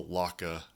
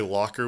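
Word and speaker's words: Lokka: developed in australia and called the laka which i think is hilarious because even though it's spelled l-o-k-k-a i think if you say locker with an australian accent it probably sounds the same so it's it almost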